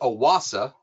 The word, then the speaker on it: OASE: Yeah, it is Aasa and Aasa is German uh for Oasis. So that is the proper pronunciation and the meaning behind it.